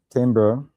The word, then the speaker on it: timbrel: And how you pronounce that? Timbrel? Yeah, timbrel.